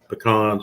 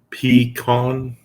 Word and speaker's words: pecan: was the uh uh we say the same as kevin with pecans except we don't pronounce the a as much pecan pecan awesome awesome i